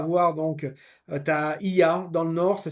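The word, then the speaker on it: Oia: Donc tu as I dans le nord, ça s'écrit Oya.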